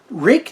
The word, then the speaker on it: Ruike: manufactured in China but rake knives you saw in the thumbnail it's spelled RI ke but pronounced rake rhymes with Jake must be good this